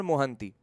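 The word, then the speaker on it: Mohanty: mAh and sanjip Kumar mohanti actually it's in Bengali we always pronounce these Ora surnames as mohanti only but one of their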